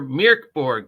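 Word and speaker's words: Mörk Borg: for pirate Borg for mirk Borg because remember we've been pronouncing it wrong it's mirk not Mor it's mirk Borg mirk Borg or Meow Borg pirate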